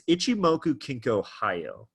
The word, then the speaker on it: Ichimoku Kinko Hyo: it's rare that you hear the full name pronounced but it's Ichimoku kinko hi oh okay itsumo ink Ohio and if you're looking